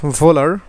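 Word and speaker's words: Wöhler: না পরবর্তীতে বিজ্ঞানী বিজ্ঞানী এটাকে আমরা বলি হচ্ছে ফিডরিক ভোলার এটা আসলে অনেক সময় নামটা দেখে ওহলার মনে হতে পারে তো আমরা ভোলার বলতেছি কারণ জার্মান ভাষায় ডব্লিউ কে আসলে ভ এর মত উচ্চারণ করে তো সেই জিনিসগুলো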